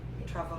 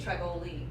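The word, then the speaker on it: Trivoli: It, Trouble. you would think Triboli. It looks Yeah, Italian, that's- but we yeah. always said Trouble.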